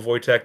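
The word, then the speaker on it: Wojtek: has not seen corpal voytech you should definitely look up photos of him because it is adorable it's a little bear a hat saluting yeah if if you go to the Wikipedia page and it's spelled w j te K it's like just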